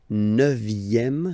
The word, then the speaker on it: neuvième: Le neuvième, neuvième, so it's V here, remember, vième, la neuvième.